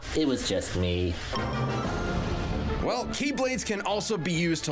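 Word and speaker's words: χ-blade: means the X blade it's just pronounced like keyblade even though it's just one keyblade the series is so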